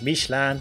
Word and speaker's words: Michelin: Isn't it Michelin, not Michelin? And okay, I got a lot of comments in this vein, and pronounce it how you like, everyone. The French pronunciation is Michelin, but Michelin is cool.